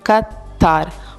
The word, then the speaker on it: Qatar: American English speakers will typically say Qatar with a stress on the second syllable, which sounds like the word tar.